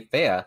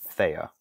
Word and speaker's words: Thea: When I had kind of adopted this name, I had pronounced it Thea, which was just how I pronounce it when I first decided upon it. But after speaking with a bunch of other people and, introducing myself as, now I'm going to say Thea, that's how everybody else just pronounced it. So it was a lot of just correcting people and saying, well, it's actually Thea rather than Thea.